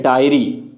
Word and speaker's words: diary: इसी तरह एक और वर्ड है डायरी, उसकी स्पेलिंग होती है DIARY, डायरी। ये हम लिखने के लिए यूज करते हैं, उसको बोलते हैं डायरी।